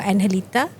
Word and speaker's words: Angelita: So they have this one very famous cenote or analita. It's actually spelled as Angelita because so the G is pronounced as a J.